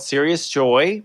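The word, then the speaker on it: Sirius Joy: created a service called serious joy it's spelled like the star s-i-r-i-u-s for the brightest star in the sky and this system i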